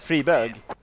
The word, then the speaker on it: Friberg: also fall, and it's Friberg who's left alone. Or Friberg. Friberg. You're saying it like Friberg. And you know what berg means in Swedish? Oh. It's Friberg. Friberg.